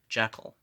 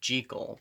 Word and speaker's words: Jekyll: they always call him jekyll well i read somewhere that robert louis simonson was asked about that and he said let it be uh pronounced jiggle because i guess jiggle